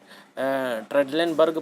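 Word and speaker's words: Trendelenburg: तो वो जो दोनों जो पोजीशन है ट्रेडलेनबर्ग पोजीशन, ये दोनों पोजीशन बिल्कुल सही हैं। ये दोनों में फ़र्क है इनके बेड के कारण। ट्रेंडलबर्ग ये जो है इसका प्रोनाउंसिएशन है ट्रेंडलेनबर्ग पोजीशन।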